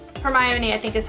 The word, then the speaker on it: Hermione: they were saying in Hermione but there's in another book it actually like phonetically spells it as her my own e weather and where the